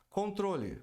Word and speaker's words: control: Controle. Outro clássico, hein? A pronúncia correta é control. Tem que pronunciar o N. Control. E o L no final. Control. A tônica é troll.